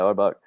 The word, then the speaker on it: Auerbach: Yeah, Auerbach. That's okay. Auerbach.